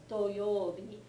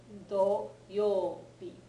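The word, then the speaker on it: どようび: This do is just a single syllable do. For whatever reason, a lot of people tend to forget that the yo is the part that's got a long U on it every single time, and the first syllables aren't necessarily extended vowels. Okay, so this is doyobi, not doyobi.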